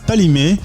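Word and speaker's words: Kpalimé: alors justement allons à Palmer ça s'écrit avec un K et un P on dit pas le cas donc c'est pas limé on est en plein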